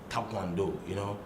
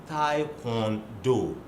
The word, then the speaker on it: Taekwondo: Unfortunately, you hear some of our media men mispronouncing the word Taekwondo. It's Taekwondo. Taekwondo. Now you see that the spelling is KWO, not KWA. Taekwondo. It's a Korean word. It's a compound word. Tai, Kwon, and Do.